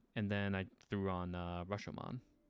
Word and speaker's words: Rashomon: night shift, I was watching a movie called Rashomon or Rashan. I always pronounce this. I always forget. Oh no, Rashomon.